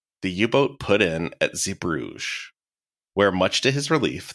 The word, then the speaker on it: Zeebrugge: The Dutch pronunciation is like Zeebrugge. No thanks. It's like a voiced velar fricative. It's like a sound we don't have in English. But the French pronunciation of that is Zeebrugge, I believe.